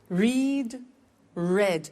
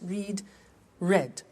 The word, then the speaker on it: read: make made meet met read read notice that now read and read are written exactly the same but the pronunciation changes in the past tense read read say said send sent